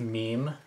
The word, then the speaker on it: Mimi: Yellow Witch Mimi? Mm-hmm. It's pronounced meme.